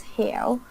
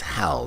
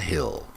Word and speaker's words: hell: And it's hell, not hill. Hell.